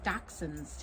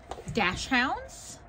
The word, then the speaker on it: dachshund: am reading dozens of Dachshunds today hi Newton sometimes people say Dash Hounds but inside the book there's a correct pronunciation which is dachshund so that's one I